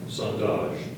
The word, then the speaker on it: sondage: It's a noun, Are there any alternate pronunciations? not just the one. Sondage.